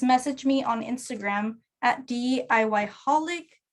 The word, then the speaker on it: DIYholic: Just message me on Instagram at DIYholic. DIYholic, it's spelled D.I.Y.holic.